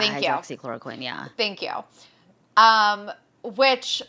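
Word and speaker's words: hydroxychloroquine: How do you know how to pronounce that? I just uh hydroxychloricquin. Hydroxychloroquin.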